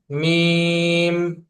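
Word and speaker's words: ميم: এটা হচ্ছে ভিজ অংশ দুই ঠোট হইতে দুই ঠোটের শুকনা জায়গা হইতে হতে উচ্চারণ হয় মিম সবাই বলি মিম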